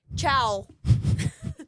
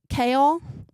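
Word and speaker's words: Chaol: Ciao. That's exactly what what my boyfriend said when I had him read it. Um, it's pronounced kale.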